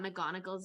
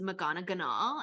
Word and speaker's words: McGonagall: was a child and I thought mcgonagall's name was magana Ganahl and I just inserted a whole extra syllable in there was Haggard